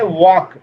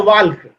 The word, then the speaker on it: walk: और कोई कोई पढ़ता है वाल्क, वाल्क गलत है, वाल्क नहीं पढ़ना है, वाक पढ़ना है, यही सी को बोलते